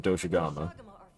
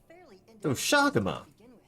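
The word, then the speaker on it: Doshaguma: I've been pronouncing it wrong. I've been saying Doshigama. Doshagama.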